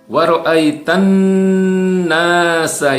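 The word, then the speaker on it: وَرَأَيْتَ النَّاسَ: wa ra'aitan nasa yadkhuluna fi dinillahi afwaja. Ya, wa ra'aitanna ini gunnah, ya, nun bertasdid, ini gunnah wajib dibaca mendengung dan ditahan. Ya, tidak boleh terlalu pendek.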